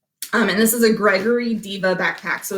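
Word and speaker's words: Deva: And this is a Gregory Diva backpack. So it's a women's specific backpack. Diva is spelled D-E-V-A, not diva like a superstar diva.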